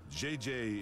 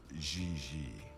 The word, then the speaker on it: Gigi: She may very well be JJ in America, but in France, she is Gigi.